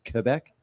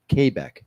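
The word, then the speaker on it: Québec: does how do thec kbec kbec yeah there's an accent on the E which makes it become a a sound hey hey that's what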